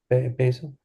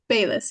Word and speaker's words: Bayless: Did I say your name right, Basil? Bayless? It is Bayless, yes.